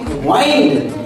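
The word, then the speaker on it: wind: हैं आप लोग तो डब्लू आई एन डी अगर पढ़ेंगे वाइंड तो वाइन का मतलब क्या हो जाएगा? लपेटना। और डब्ल्यू आई एन डी विंड पढ़ेंगे तो विंड का मतलब क्या हो जाएगा? हवा।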